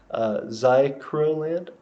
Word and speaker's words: Zerkaland: The Empire of Zerkaland says, just FYI, our nation is pronounced Zycroland.